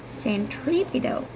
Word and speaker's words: centripetal: And number 2, everybody, please write down CENTRIPETAL, 4 syllables. Did you see the first 5 letters? Central, right? Center, that means in the middle. Okay, so and the stress is here.